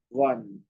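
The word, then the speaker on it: won: and try and say one okay just like o n one both the words have the same pronunciation o n e and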